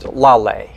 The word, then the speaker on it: Laleh: Beside Rebecca, we have Laleh, like pronounced Laleh. Perfect. I heard you talking in the lobby about like lollipop. Is that how we? It's a good way to kind of get you in the right direction.